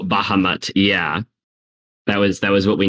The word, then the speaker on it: Bahamut: I'm probably going to butcher the name, but it's spelled, I believe, BAHAMUT. Oh, Bahamut.